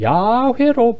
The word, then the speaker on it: 야훼: 으로 칸 4글자 아 이 네 글자의 발음을 여러 공정을 통해서 복원을 해 보니까 이거 아바이 이것은 사실은 야외로 발음을 해야 된다 그래서 학문적으로는 여러분 야외로